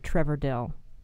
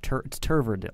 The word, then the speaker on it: Trever: So please welcome Trevor Dill. Hi, hello, how are you? Hi. It's a quick correction. It's pronounced Turver Dill. Turver Dill. Turver. Not Trevor.